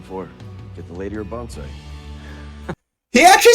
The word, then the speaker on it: bonsai: Get the lady or bonsai.